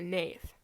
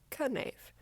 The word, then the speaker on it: knave: I almost said knave. It's pronounced when I first read the cast list, so I've always said knave, but it's apparently just knave, which is really disappointing, because why would there be a K?